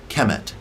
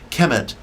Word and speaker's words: Kemet: through the hieroglyphic um term uh chemet kemet k m t would be the phonetic pronunciation kemet means black land black